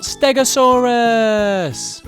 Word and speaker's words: stegosaurus: to learn all about stegosaurus how do you say that again stare go saw russ can you say it